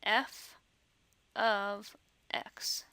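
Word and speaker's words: f(x): we don't actually pronounce it that way we pronounce it f of x so the F parentheses x parenthesis is really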